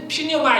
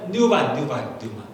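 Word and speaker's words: πνεῦμα: 근데 우리는 정확히 이제 잘 모르니까 이제 퓨뉴마 이렇게 하니까 우리도 이제 이렇게 되면 원래 뉴마 이렇게 발음이 되는데 그 다음에 이 혼은 뭐라 그래요?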